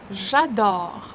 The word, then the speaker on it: j'adore: J'adore. O. Open O sound. Open your mouth widely. J'adore. E is not pronounced.